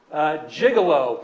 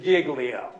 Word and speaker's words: Giglio: maybe a little bit but that's not the pronunciation it's giggly up if we get nothing else out of this let's spread around the nation that the correct pronunciation is Giglio all right I'm going